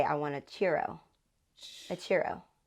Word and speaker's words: churro: But I meant to say I want a churro. A churro. You gotta say it like a chew, like you're chewing.